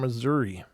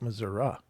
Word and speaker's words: Missouri: So the first story here is coming from Missouri, or Missouri, depending on how you like to pronounce that. The natives call it Missouri. I don't know how they get the out of that I, but they do.